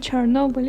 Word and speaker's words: Chernobyl: situation like the movie we mentioned before, like Chernobyl. Yeah, Chernobyl. How do you pronounce? Chernobyl. No, it's not Chernobyl.